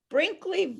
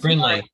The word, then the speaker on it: Brinley: So Brinkley has a Brinley. Brinley, yeah. Brinley, I'm so sorry for mispronouncing your name.